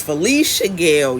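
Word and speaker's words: Felicia Gayle: It's Felicia Gale. Yesterday I said Lisha. It's Felicia, a social worker and former St.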